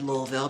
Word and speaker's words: Louisville: Lo and behold, when I was in Louisville, yes, I said Louisville because I've actually been there and that's how they say it there.